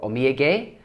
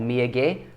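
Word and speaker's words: お土産: who told me about my pronunciation for oming for Amir gay which is souvenir or Mia gay so again it's a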